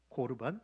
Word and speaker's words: 코르반: 기도밖에 없습니다 여러분 구약에서 보면요 하나님께 드리는 재물을 고르반 또는 코르반이라고 발음합니다 여러분 근데 그 단어가 뭐라고요 하나님이 기뻐하시는